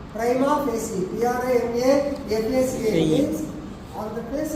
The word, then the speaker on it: prima facie: It's not prima facie, it's prima facie. Prima facie.